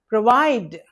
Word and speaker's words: provide: It's a short vowel. It's not O pro V I D. So provide not provide okay not provide it's not O sound. Okay it's provide syllables are in in spelling proide. They can be separated like this and the stress is on the second syllable because we are not giving any stress to this O.